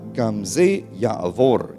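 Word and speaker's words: גם זה יעבור: Bacanya Gamze Ya'avor ya.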